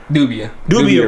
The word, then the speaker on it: Dubia: I mean, there are things that I would have thought, we got these giant Dubai roaches, right? Is that how you say it? Dubia roaches.